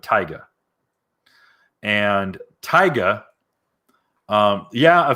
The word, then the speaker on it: Taiga: i believe it's pronounced taiga like tiger but taiga and tyga um yeah